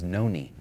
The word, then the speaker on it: Noni: of the guys identified his uncle is Noni, and it's spelled N-O-N-E.